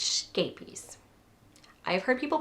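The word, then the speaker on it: Scheepjes: And I think it's scapies. I've heard people pronounce this 7 million different ways. From skeepjes to sheepjes, scapies. I think it's something similar to scapies, because that is how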